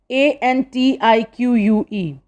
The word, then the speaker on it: antique: of them are about food here are some a n t i q u e its correct pronunciation is antique okay we speak like antique